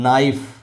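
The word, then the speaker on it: knife: अंग्रेजी देख लीजिए अंग्रेजी का एक शब्द यहां नाइफ कहा गया गायब साइकोलॉजी हो गया पी गायब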